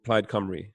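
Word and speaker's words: Plaid Cymru: the party that you're running for is called plaid camry is that right correct i'm really impressed you pronounced it right i was about to ask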